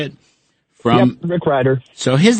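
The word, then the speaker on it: Rick Rieder: Yep, Rick Ryder.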